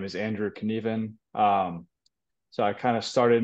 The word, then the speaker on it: Knueven: It's Knueven.